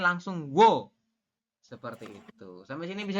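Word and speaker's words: 워: U ditambah dengan O, maka dibacanya bukan Wo, tapi dibacanya langsung Wo.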